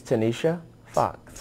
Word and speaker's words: Tanisha Foxx: Pronounce it for me. It's Tanisha Foxx.